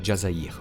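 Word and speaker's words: الجزائر: DZ, c'est en référence à l'Algérie, prononcé Jazaïr en arabe, et pays d'origine d'une bonne partie des cadres du clan.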